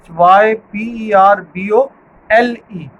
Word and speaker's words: hyperbole: hyperbole and minded the spellings of hyperbole are hy p ER bo l e this is how you pronounce it hyperbole then there is another technique